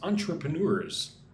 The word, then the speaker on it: entrepreneur: Irina says, please pronounce entrepreneurs. Entrepreneur. 4 syllables. Entrepreneur.